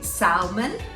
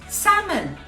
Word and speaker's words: salmon: for this one is salmon yes you have another hidden letter those hidden letters are really tricky aren't they you don't pronounce them l just like almond a-l-m-o-n-d it won't be